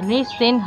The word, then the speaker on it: নৃসিংহ: হয় যদি দেখি আমরা কোন শব্দের মাঝে অনুস্বার আছে তাহলে শুদ্ধ সংস্কৃত উচ্চারণ হসন্ত যুক্ত ন হবে অর্থাৎ দন্তন্য হবে আর যদি কোন শব্দের